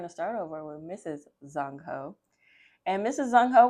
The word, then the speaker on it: Dung: Oh, I've been saying dung. It's pronounced zung.